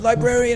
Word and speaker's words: librarian: Librarian, it says fauna on here. Librarian with it has an R in it. You know that? Yes. Yeah, it's like February. February. Except you pronounce the R in librarian.